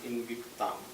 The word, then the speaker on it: Invicta: производит ее французская компания invicta ударение на последний слог на автошоу во французском